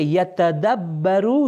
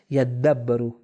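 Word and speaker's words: يدبروا: اسی لیے یتدبرو یعنی وہ غور و فکر کرتے ہیں. یدبرو، معذرت چاہتا ہوں، اس کا صحیح تلفظ ہے یدبرو، وہ غور و فکر کرتے ہیں.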